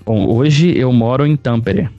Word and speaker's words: Tampere: você vive cara bom hoje eu moro em tampere é o jeito que você fala a gente se escreve é bem no centro da finlândia e